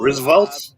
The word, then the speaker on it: RSVLTS: Because There is I think a it lot is of, pronounced shirts here available. Roosevelt's.